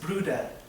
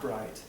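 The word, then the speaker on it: Bryde's: Like the misnamed Amora's whale or the Gulf Brutas whale, pronounced Bruda, not bride.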